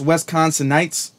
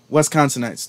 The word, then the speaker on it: Wisconsinites: them money for that now is pronounced wisconsin nights okay wisconsinites thank you thank you let me